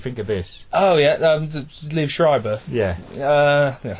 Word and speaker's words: Liev Schreiber: Oh, yeah, Liev Schreiber.